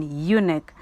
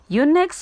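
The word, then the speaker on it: eunuch: required that such a servant be made an unic in case you also don't know what the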